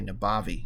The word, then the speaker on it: Nabavi: N-A-B-A-V-I, Nabavi. There we go. You gotta say it like you're from Jersey. It's Nabavi.